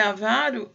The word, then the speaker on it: avaro: essa palavra liga aro na verdade é a faro tá a vara de avareza então se é avaro é uma paroxítona e se fosse avarua